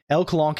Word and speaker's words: LCOLONQ: L Colonq is the yes. I mean the canon pronunciation.